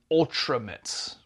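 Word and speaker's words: Ultramate: They put up a a post that says Ultra Mate and it has the phonetic spelling of it that it's pronounced Ultrammit and then it's a noun beyond Ultimate Action Figures.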